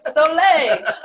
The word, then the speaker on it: Soleil: So Southern Sun, a lot of people don't know how to say it, but you will know how to say it. I didn't when we started, So Soleil. But Southern Soleil, and Instagram, that's my handle, just Southern Soleil.